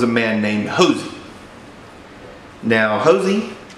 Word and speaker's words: Hosea: man named hos now hosy he spells his name like Hosea like from the Bible but pronounced like Jos now Josie is still